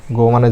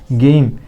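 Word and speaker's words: game: গো মানে যাওয়া। G double D. Good. জি এর জন্য গ। ওর জন্য হুসু। ডি এর জন্য ড। গুড। গুড মানে ভালো। আমরা সবাই জানি। গেইম।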